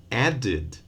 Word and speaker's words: added: Add, one syllable. Added, two.